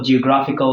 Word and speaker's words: geographical: So as for geographical, the stress placement is on the syllable gra, and as for the identical, the stress placement is on the syllable den.